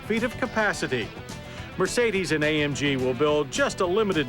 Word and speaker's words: AMG: As for those three little letters, AMG, well, we're told the proper German pronunciation is AMG.